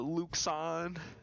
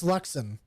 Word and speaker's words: Luxon: praying to you the luxon it is luxem yeah i pushed the pronunciation in there it's like luck sun alexander all right um there it is lux on like awn l-u-k-l-u-k-l-u-c-k-s-a-w-n all good